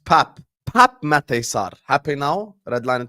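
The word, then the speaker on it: Pape: redline teranga says for the billionth time it's pronounced Pap Pap mesar happy now Redline teranga can you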